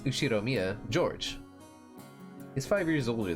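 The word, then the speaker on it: Ushiromiya: is one of my cousins his name is pronounce ushiro Mia George he's five years older than me so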